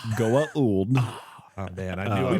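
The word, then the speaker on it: Goa'uld: Would you rather face a gold system lord or a wraith commander? You're pretty close. Goa.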